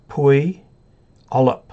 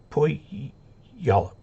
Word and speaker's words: Puyallup: Puyallup. Puyallup. Puyallup. Puyallup, Washington. NV Don, hello from Emmett, Idaho, W3DRM, welcome. Kumquats, anglicized pronunciations, well, of course.